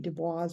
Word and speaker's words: Du Bois: call The Talented temps if you've read wbe Dubois or Du Bois depending on how you want to pronounce it I do come from